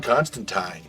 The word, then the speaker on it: Constantine: John Constantine, Rhymes with Twine.